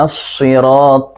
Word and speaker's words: الصراط: یہ درست نہیں ہے۔ اہدنا الصراط المستقیم، طا کو موٹا پڑھیں گے۔ صراط الذین، یہاں پر